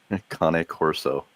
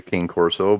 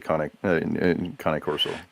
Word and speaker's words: Cane Corso: Cane Corso. And yes, I pronounced that right.